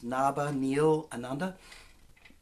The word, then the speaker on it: Nabhaniilananda: That's my long Sanskrit name, which I don't expect you to be able to pronounce, but it's Nabhaniilananda.